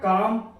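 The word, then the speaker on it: calm: यहाँ पर देखिए एम से पहले यदि एल आता है साइलेंट रहेगा। इसको पढ़ेंगे क्या? काम, वाम, पाम, क्योंकि एल के पहले एम के पहले एल आ रहा है, एम के पहले एल आ रहा है, ये पढ़ा जाएगा। लेकिन अगर इसे हम एल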